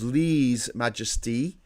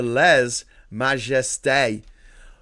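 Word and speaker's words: lèse-majesté: It can be pronounced as le majesty or less majesty. The French pronunciation, however, is closer to le majeste.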